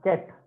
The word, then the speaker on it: ket: This is called ket V. This is how you would pronounce it.